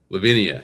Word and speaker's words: Levinia: And so, let's welcome to the show and I hope I don't this up, but Lavinia. Lavinia, you got it.